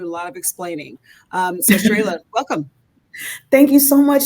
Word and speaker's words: Cherayla: It's Cherayla, like with a ray of sunshine. Yes, Cherayla.